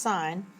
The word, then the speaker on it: sine: put sine which is abbreviated s i n but it's still pronounced sine f theta sine is